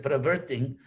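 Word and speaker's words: प्रवृत्तिं: Y prabriting, en sánscrito la pronunciación técnica sería prabriting.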